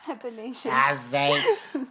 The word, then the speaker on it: Athanasius: Athanasius. Athanasius.